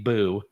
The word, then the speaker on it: Bou: And so I guess it would be Boo. BOU is how it's actually pronounced.